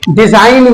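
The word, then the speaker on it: design: हमारा इन से पहले आया है तो जी साइलेंट हो जाएगा ऐसे ही देखते हैं डिजाइन में डिजाइन में जी एन से पहले आया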